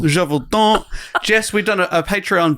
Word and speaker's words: Gévaudan: We did the beast of, how do I pronounce this one? Gévaudan. Gévaudan.